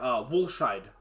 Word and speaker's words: Woolscheid: Woolscheid is how I've always said it, but I'm sure there's other ways to pronounce it. But Woolscheid is the way that I've always heard it.